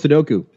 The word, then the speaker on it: Sudoku: want to do a puzzle, do do this sudoku or sudo or whatever the they pronounce it as. That that that Japanese number game. It's called Sudoku.